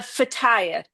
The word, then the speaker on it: feta: Um there are sounds that don't that that don't um like the eer at the end of fetay. It's not it's feta and it's almost like you're not saying the last um syllable.